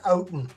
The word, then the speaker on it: Oughton: The last name is pronounced out.